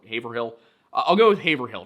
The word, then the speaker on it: Haverhill: I I had like eight different ways of pronouncing this given to me in the comments. We have places nearby that are Haverford and Havertown. That's why I've been saying Havill, but I guess it's Haveril or Haverhill.